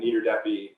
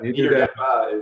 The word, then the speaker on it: Niederdeppe: I threw an extra hard E on the end, Niederdeppe, but Niederdeppe is, I think, technically the pronunciation.